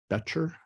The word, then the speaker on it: Betcher: secure about my pronunciation Carl did I get it close you did very well oh it's right on okay thank you uh